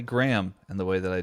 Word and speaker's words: Graham: that did i say graham and the way that i do um because i pronounce it with the the h silent i guess yeah like graham crackers yeah graham i don't